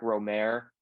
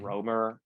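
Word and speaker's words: Rohmer: series of movies by Eric Romer, or mhm, Romer, as most Americans say here.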